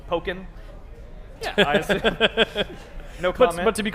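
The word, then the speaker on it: Pokkén: How do you Pokken pronounce Tournament, which is Tekken plus Pokemon, so Pokken.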